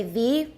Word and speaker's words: the: of all the easiest it's better to say thee with a word that starts with a vowel the other the egg